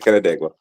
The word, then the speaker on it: Canandaigua: And he couldn't wait to get out of Canandaigua.